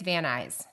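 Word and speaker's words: Van Nuys: you for jumping excited Nuys apparently is eyes and I can't wait till Rosanne from California uh dreaming pod hears us pronounce this please tell us we're doing it right but I think it's van eyes okay I never would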